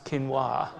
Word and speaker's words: quinoa: a thing and Australians didn't know how to pronounce quinoa but as soon as they learned how to say quinoa it was I'll have the quinoa salad thank